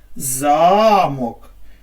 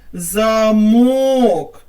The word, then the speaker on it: замок: на картинку що це так замок Як ви гадаєте де наголос в цьому слові так на першому складі А тепер спробуємо змінити його і поставити наголос на другий склад що у нас вийде правильно замок на який можна зачинити